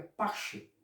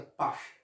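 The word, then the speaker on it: פסח: Em hebraico é pache, né? Se pronuncia pache, né?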